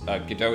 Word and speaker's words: Godot: Not trying to be pedantic, I don't really care either way, but in case you're curious, Godot is pronounced like the waiting...